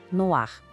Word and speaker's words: noir: O e faz com que a gente pronuncie o r de um jeito mais claro. Ouve a comparação. No ar, no ar.